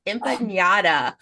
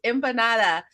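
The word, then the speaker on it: empanada: they were like it's impat and I was like no it's not it's impanata and she's like um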